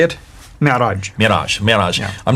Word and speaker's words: Mi'raj: That's called the Mi'raj. How do you say it? Mi'raj.